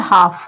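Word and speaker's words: half: है next word है हाफ हाफ में जो ए है वो एक वाउल है और जो एल है वो यहां पे साइलेंट है हाफ जैसे वर्ड है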